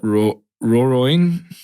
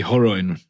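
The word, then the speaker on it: Rorion: UFC was founded by businessman Art Davey and Brazilian martial artist how do you say that? Roroin? Oh, it'd be Horoin.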